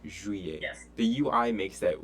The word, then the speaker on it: juillet: Okay, juillet looks like Juliet, but it's J-U-I and not J-U-L-L-E-I or L-L-I-E-T. It's juillet.